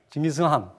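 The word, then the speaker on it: 칭기즈칸: 근데 칸도 아니고 한도 아니고 중간 발음, 징기스한, 이렇게 그렇게 발음해야 돼.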